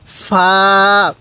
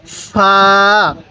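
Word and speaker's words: فاء: এই হরফটির নাম হলো ফা মুখে মুখে বলুন ফা ফা হালকা বাতাস বের করবেন এরপরে বলবেন এই হরফটির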